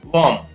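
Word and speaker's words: womb: Next है K-O-M, कॉम, यहाँ पर भी बी साइलेंट रहेगा। इसी प्रकार W-O-M, वॉम, वॉम, इस तरीके से।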